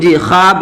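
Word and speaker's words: خواب: वाय मादूला वो वाव जो लिखा तो जाए लेकिन पढ़ा नहीं जाए, यानी वाव साइलेंट वाले। तो यहाँ पे ख्वाब जो है ना यहाँ पे वाव नहीं पढ़ा जा रहा था।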